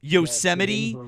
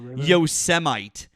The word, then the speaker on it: Yosemite: And Donald Trump pronounced Yosemite Yosemite.